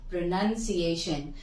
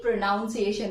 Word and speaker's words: pronunciation: प्रोनंसिएशन mind the difference प्रोनाउंस बट प्रोनंसिएशन टी आईओ एन लगने के बाद none हो जाता है नहीं होता अदर वाइज प्रोनाउन यूज करते हैं ठीक है friends I hope you could have understood this कि इसे कैसे करना है कभी भी प्रोनाउंस एशन मत बोलना दोस्तों क्योंकि अगर आपने